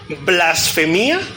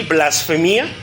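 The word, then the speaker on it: βλασφημία: Gloria a Dios Entonces del griego blasfema con acento en la i blasfema es la palabra griega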